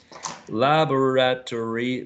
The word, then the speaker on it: laboratory: first one is um laboratory laboratory laboratory laboratory sounds like five right laboratory lava rat tree laboratory so you make it in four syllables similar similar only three